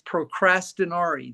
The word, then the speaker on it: procrastinare: Procrastination in Latin is procrastinare. That's the definition of the word. That's the pronunciation of the word in Latin.